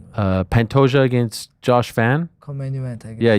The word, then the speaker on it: Van: Uh, Van.